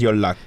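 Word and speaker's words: 연락: but Y what is y Lu y Lu is contact contact yeah contacting somebody y Lu so it's pronounced a little differently uh than it is written it's written as yon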